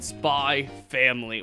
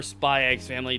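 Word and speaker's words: Spy × Family: is none other than spy family or spy x family depending on how you say it it's like hunter hunter you don't say the x yeah i really i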